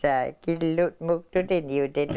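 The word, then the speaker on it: kiilu: Okay, and again, kilu, kilu?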